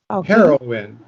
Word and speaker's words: heroine: in and heroin okay those two words are pronounced exactly the same according to the cambridge dictionary okay okay okay so they are pronounced heroin heroine the first word spelled